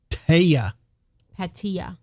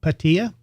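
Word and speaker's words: Pattaya: So, Jason says, pronounced Pata. Patia. Patia. Okay. Patia. And all she wanted to do was Bangkok.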